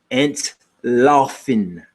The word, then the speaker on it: entlaufen: This is how you say run away in German. Now, I'm not as good as Llewellyn was, but to run away is entlaufen. Entlaufen or entlaufen.